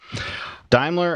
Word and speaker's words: Daimler: do you say it dler dler diimler okay Daimler and then other automakers I think Volkswagen maybe